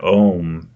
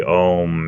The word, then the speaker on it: Om: from somewhere else but the word ohm and and how it's actually three syllables and everything means it